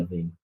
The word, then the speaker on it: Lavigne: I really like Avril I can't pronounce her last name. Levine. Avril Lavigne.